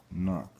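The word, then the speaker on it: אָנַח: All right, AHNAQ. Okay, and that's how it's pronounced, and that's Strong's H 584, just so you can get an understanding of what this is exactly saying.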